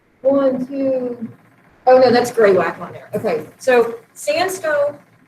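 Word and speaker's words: graywacke: way it looks but it is it just pronounced gray wack um this is found a lot of times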